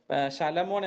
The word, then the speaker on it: ശലമോൻ: അപ്പം സോളമനെ ഇതിനകത്ത് വിളിക്കുന്ന പേര് വേറെയാണ്, ആ ഒരു ഉച്ചാരണം വ്യത്യാസമുണ്ട്. ശലമോൻ എന്നാണ് വിളിക്കുന്നത്.